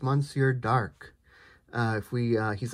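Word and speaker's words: Monsieur D'Arque: the uh monsieur dark people have been telling me finally how to pronounce that that is monsieur dark uh if we uh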